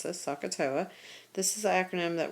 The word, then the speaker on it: SOHCAHTOA: So we're going to use this acronym at the top, this SOHCAHTOA is how you pronounce this, SOHCAHTOA.